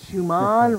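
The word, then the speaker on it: Schumann: and today that is Shuman resonance did I say it right perfect Shuman resonance that's right what the heck is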